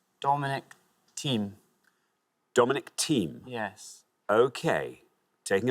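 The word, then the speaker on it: Thiem: the French Open Dominic team and his surname interestingly is spelled t h i e m so next time someone tells you there's no I in team there we are thank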